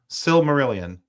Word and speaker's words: Silmarillion: I can't even pronounce the Silmarillion. Did I pronounce it right? Silmarillion. Silmarillion? Silmarillion. Silmarillion. You got it.